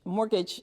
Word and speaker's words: mortgage: I couldn't even pronounce the word mortgage mortgage the way it's spelled and the way it's pronounced are two different way could not do